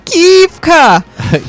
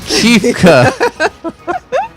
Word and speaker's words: Kefka: Brent Rawson, Kefka. Kefka.